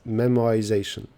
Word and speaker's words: memoization: This says memoization. Yeah, memoization. I also heard a version with like W sound here. Memoization. Something with like W here, I would say.